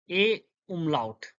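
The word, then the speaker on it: Ä: Uh, the first one, A, A umlaut, A umlaut, uh, A. It sounds like the E in bed, B-E-D, bed, bed.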